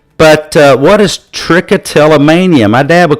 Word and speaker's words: trichotillomania: But what is trichotillomania? My dad would call that a $7 word. Trichotillomania. See, there's 7 syllables.